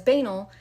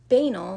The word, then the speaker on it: banal: Quick note, apparently both pronunciations are correct, but I personally have almost only heard banal.